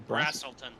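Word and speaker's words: Braselton: You mispronounced the name of the town, and it's Brazelton.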